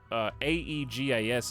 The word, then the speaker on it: Aegis: It should be viti, but it's probably not pronounced that way. Vita. No, that's a different word. It actually should be viti, because A-E-G-I-S is Aegis, so like the A-E sound should be like an E sound, actually.